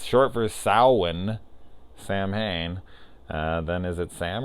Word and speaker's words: Samhain: got the look of Sam which is supposed to be short for Sal one which is how you pronounce Samhain which I actually didn't